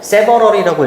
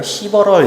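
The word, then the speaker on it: several: 자, 동명사 주어기 때문에 이렇게 이제 s 붙여 주시고 세버럴이라고 읽어야 돼요. 시버럴 이렇게 읽으면은 이제 듣기가 안 들려요.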